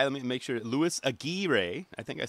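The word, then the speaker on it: Aguirre: how Paul said it it's a gir but it's spelled a g UI r r e so that's good to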